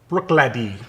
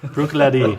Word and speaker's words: Bruichladdich: is this bottle right here how do you pronounce it Bruichladdich Bruichladdich is the distillery the whiskey itself is called